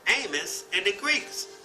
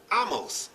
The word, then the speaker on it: Amos: From English phonology, this name is pronounced with a long A or A. However, I have heard and noticed that some Jewish people and even biblical scholars pronounce this name with a short A, just as pronounced in Akan. In their pronunciation, therefore, Amos is pronounced Amos, or Amo.